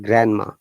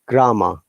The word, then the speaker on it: grammar: was pronouncing that like grandma whoa what are you pronouncing it's not grandma it's grammar though they're trying to pronounce it quickly but it sounds like grandma grammar grammar it is